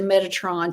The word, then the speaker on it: Metatron: telling me how to say this meditate to Metatron to move time there we go thank you